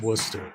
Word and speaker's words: Worcester: Laester is how it's spelled, but it's Worcester or No, that's Gl but Warchester is Worcester.